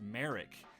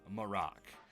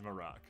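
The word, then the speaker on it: Marrok: episode before that that it was pronounced Merrick this is untrue uh because in this episode uh it is shin I believe um pronounces it as morocc so I am stupid I am a dumb baby Cole deserves all the credit it is Morocco I I I did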